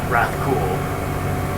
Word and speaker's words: Rathcoole: Is you're supposed to put emphasis on the word cool in Rathcoole.